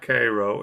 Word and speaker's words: Cairo: I had forgotten about CRO and and just for those people that aren't